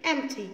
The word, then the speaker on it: empty: so let's read the word empty hmm tea empty yes we didn't renounce the literal bean because